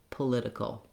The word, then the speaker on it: political: Kul, political.